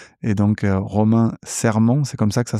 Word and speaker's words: Romain Serman: Et donc Romain Serment, c'est comme ça que ça se prononce.